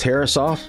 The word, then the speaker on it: Herreshoff: But hey, if the man would like his name pronounced Herreshoff, I'm more than happy to oblige.